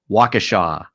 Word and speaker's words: Waukesha: a good discussion with you and it is pronounced waukesha yeah old indian name yep yep so um